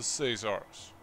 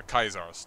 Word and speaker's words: Caesars: to the heritage of the Caesars, or the Kaisars, depending on your pronunciation.